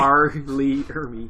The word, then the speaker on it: R. Lee Ermy: Arlie Ermy. Just fire. Can You you know how to say say it it? normally? It's R. Lee Ermy.